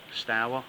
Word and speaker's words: Stour: little walk alongside the River Stour or store however you want to pronounce it big thank you to